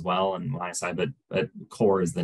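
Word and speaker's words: KOR: the Core mobile app, and that's spelled K-O-R. Core mobile is what we refer to. That's what I was going to specify. It's like, make sure it's not the typical spelling of Core, but yeah, it's K-O-R.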